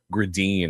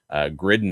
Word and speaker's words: Gridin: official NHL pronunciation guide, Matvei's last name is pronounced Gridin according to that, which you would think would be the case based on that spelling. But Gridin is how it's said on TV, said in interviews, and I think it's a fun way. It reminds me a little bit of grinding, right?